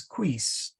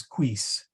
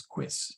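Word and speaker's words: quis: okay for example uh I tend to say quiz as queece and that's Pius the 10th the ghost of Pius the tenth coming back to haunt me uh because we often sing it as queeze and which is okay but it correct pronunciation is quiz in in our accent if you wish so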